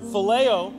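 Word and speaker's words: φιλέω: he was using is that greek word that's pronounced phileo which means a friendship love or better use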